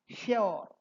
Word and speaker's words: sure: So the old be the old British English pronunciation was sure rhyming with pure.